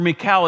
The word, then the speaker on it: Michal: Anyways, getting back to Michal, or Michal as she's pronounced, it says that she loved David and they got married.